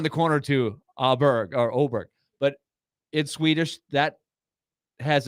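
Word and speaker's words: Åberg: other way around no it's actually oberg okay if you say it in Swedish even though it's the the letters are a b r g so when you see it it's Aber Berg or auberg and so you don't really say a in Sweden so the Americanized is auberg and he was actually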